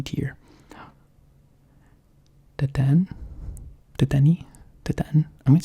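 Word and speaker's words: Dedenne: Deten? I'm going to say Deten. Maybe I should look it up. Alright, the internet has led me to believe that this thing's name is pronounced Detene.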